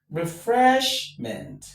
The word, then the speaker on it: refreshment: So, we have one You have two. You have three. So, this word is on the penultimate syllable, which is the second syllable from the end of the word.